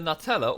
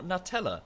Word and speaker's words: Nutella: correct pronunciation of Nutella it's either Nutella or nut teller because you know any other pronunciation you know it's ridiculous quite clearly wrong for a hazelnut spread well done there social